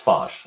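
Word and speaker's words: Foch: Mary waren and Nina fos or is it FX it's fos I just looked it up that's what I was taking time doing before the podcast that's how she pronounced it totally would say F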